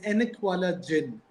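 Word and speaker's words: Ainak Wala Jinn: which was on the Ghost with the glasses pronounced as enala Jin so enk means glasses and Jin means ghost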